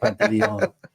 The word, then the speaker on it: Pantaleon: That's literally how you say it. Pantaleon.